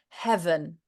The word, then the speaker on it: heaven: And that voice, getting it on that it's not an F sound. Well, an F is voiceless version of the V sound. So we still need those vocal folds to interact to make it a voiced sound.